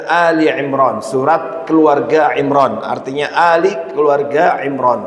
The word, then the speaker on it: Ali Imran: Bapak Ibu hati-hati membacanya enggak boleh mengatakan Al Imran sebagian orang mengatakan surat Al Imran kalau Alfatihah Albaqarah benar tapi Al Imran dibaca dengan Ali Imran surat keluarga Imran artinya